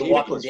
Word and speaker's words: Chiklis: That's James Chiklis, right? How do you pronounce his name?